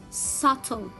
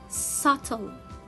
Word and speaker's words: subtle: will be doubt and here subtle subtle i will not read letter b y because it comes before letter t so let's read the